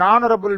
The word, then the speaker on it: honorable: An is used before a silent H. For example, an hour, an honest man, an honorable man.